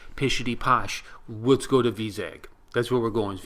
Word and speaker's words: Vizag: Yes, not Vikram. No, or Vizag. Our friend at church pronounces it Vizag.